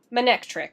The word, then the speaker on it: Manectric: Manectric, there we go, that's how you say it.